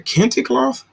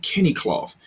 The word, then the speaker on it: Kente cloth: and other things out of i said a kenticloth he said no kenny i'm like why are you pronouncing it kenny cloth he said that's that's what my teacher told me that it's pronounced kenny cloth oh wow oh your teacher told you that